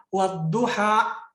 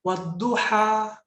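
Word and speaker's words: والضحى: baca huruf hijaiyah Makanya kalau ada orang baca begini Itu salah ki wadduha salah harusnya wadduha karena ada di situ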